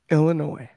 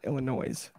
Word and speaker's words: Illinois: That your boy will be attending in his hometown, Chicago, Illinois. That's a silent S on the end of that for you guys that don't know how to pronounce it. It's Illinois. It's not Illinois.